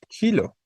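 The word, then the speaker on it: xilo: de origen griego y que se escribe con x con sonido de J es gilo saben Qué significa gilo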